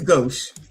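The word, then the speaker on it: gauche: G A U C H E. Go. It is go. Oh, I was right. So, the person that wrote it was wrong. I was right. It's goch.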